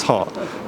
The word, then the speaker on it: Hart: Pronounce the H. Say again? What's your name? Hart. Hart.